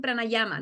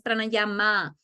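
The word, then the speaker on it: prānāyāma: la palabra es yog lo mismo con pranayama no es pranayama es pranayam pranayam Okay Vamos a aprender un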